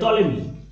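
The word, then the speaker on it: Ptolemy: শ্রদ্ধাঞ্জলি ঠিক আছে হোমেজ মানে শ্রদ্ধাঞ্জলি আর ক্লডিয়াস টলেমি ক্লডিয়াস টলেমি কে তোরা শুনিলে ক্লডিয়াস হচ্ছে একজন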